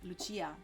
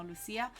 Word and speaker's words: Lucia: She's Italian, and that's why finally I know that I can pronounce her name Lucia in Italian, no Lucia.